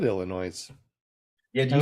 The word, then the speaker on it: Illinois: is it our Kansas why is Illinois have a S at the end if you're not supposed to pronounce it I know and